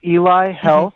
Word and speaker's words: Eli Health: we're starting out and correct me if I'm pronouncing this wrong Eli or Ellie health monitor what is this it's Eli Health that's eli.